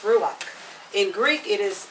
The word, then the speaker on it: ruach: in hebrew it is called is this pronounced ruach in greek it is pronounced pneuma you want me to spell that yeah okay hebrew ruach r-u w-a-c-h r-u-w-a-c-h yes in greek it is